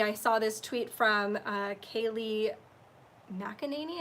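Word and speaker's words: Kayleigh McEnany: saw this tweet from Kaylee mackaninee is how we say her name I just call her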